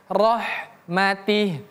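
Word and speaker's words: رَحْمَتِهِ: Yudkhilu yasyau fi rahmatih. Yudk dal e qalqalah ya. Yud yudkhilu may yasya. Ini sama saja fi rahmatih. Rnya tebal ro. Kemudian ha tipis. Rohmatih. Ini ha besar ini ha kecil.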